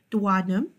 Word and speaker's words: duodenum: Duodenum, or the duodenum, as some people pronounce it, is approximately 10 inches long.